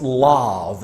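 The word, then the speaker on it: Lav: logo this one here is pronounced love and love in english language means lion as you can tell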